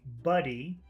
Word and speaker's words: buddy: it to you is if you want to say buddy you should try to eat the vowel okay that means you should feel like pushing down okay you're not pushing out air it's like you're eating air you you should feel some pressure going down buddy uh uh you you should feel like the air going down and if you want